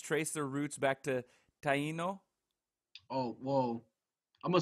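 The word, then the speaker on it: Taíno: Did I say Taino? Taino's good.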